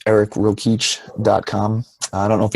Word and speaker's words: Rokeach: can just go to my safe it's eric rokeach calm I don't know if you have show notes but I'll spell it out for people so okay just in